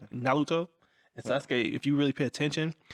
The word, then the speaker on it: Naruto: they don't pronounce ours it's actually more like close like between uh r and the l so it's naruto if you really pay